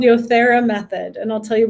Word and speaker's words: Yothera: It's called Yothera method, and I'll tell you why. Yothera is yoga and therapy, and so yoga just means union of body. Yothera, Yothera. Yep. Yothera method?